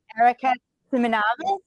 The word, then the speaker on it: Erica Simonavice: We are here with Erica Simonavice.